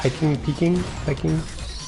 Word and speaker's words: piquing: right away, but always like how do you pronounce it? Piquing, P-I-Q.